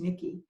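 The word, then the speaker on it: Michie: the tavern and by the way it's called Nikki tavern yes yeah yeah it's spelled Mich ie but it's pronounced Nikki and you can actually see what the rest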